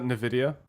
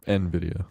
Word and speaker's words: Nvidia: oh there's an eye he's not in the video Nvidia Nvidia okay I always said in the video but yeah Nvidia no no I think you're right I just that's just how I always pronounce it an idiot idea so